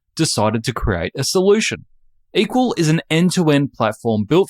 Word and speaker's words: EQL: and co-founder of equal that's eql pronounced equal Andrew is a former